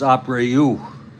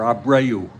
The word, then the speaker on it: Abreu: Yeah, actually, the way you would pronounce it is Abreu, or Abreu in Spanish.